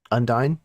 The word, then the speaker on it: Undine: Is it Undine? Undine? I've been pronouncing it Undine. Undine?